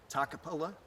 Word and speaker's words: Toccopola: this place down or anything no it don't takapola yep I make sure I say it right